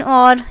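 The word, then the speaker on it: hour: उसके बाद एन और, ये भी और जो है आपको मैंने पहले भी बताया था इसमें एच साइलेंट था इसलिए हम इसको ऐसे कह रहे हैं।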